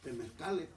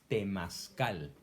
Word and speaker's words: temazcal: entonces me dijo que yo calificaba para ir a unas reuniones temezcales. Y yo le pregunté, ¿y qué son los temezcales? Ah, es que Entonces- estás pronunciando mal. No es temezcal, es temazcal.